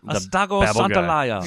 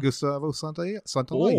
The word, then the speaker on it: Santaolalla: pronounce his name, but I know that there's one L, and that's got to be an O sound, and then there's two L's, so that's a yeah sound. Mm-hmm. Yeah. Gustavo Santaolalla.